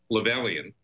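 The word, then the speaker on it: Lovelien: But yes, these two defendants, Rick Lovelian, L-O-V-E-L-I-A-N, Loveland it's pronounced, and Stephen Stewart were part of the whole mass of defendants that were indicted maliciously by the U.S.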